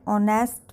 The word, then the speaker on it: honest: consonant, that is H, but H is silent in these words and these are pronounced as are or honest man.